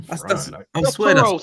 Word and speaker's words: Tauros: I'm Toros. It's Toros. It's Tauros. Thous% Toros. I I was Spell that for me.